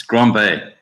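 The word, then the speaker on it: Grand Baie: I just want to say it's not pronounced Bay. I don't know why we say that. B-A-R-E. That's not a Bay. It's Grand Bay.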